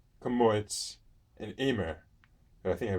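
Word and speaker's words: Emmer: about spelt, kamut, and Amer? I think I pronounced it really right. I think it's Emer.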